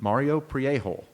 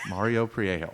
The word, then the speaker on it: Mario Priego: Yeah, how do you pronounce his last name? Mario Priego. Okay. Mario Priego.